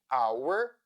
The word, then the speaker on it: hour: For instance, in words like hour, honor, or honest. The letter H is not pronounced in many words where it follows letter C, as in words anchor, character, chaos, or Christmas.